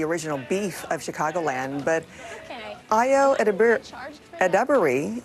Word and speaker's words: Ayo Edebiri: All right, so it may not be as intense as the original beef of Chicagoland, but Ayo Edebiri is how we're pronouncing it, knows how to turn up the heat in Studio 8H.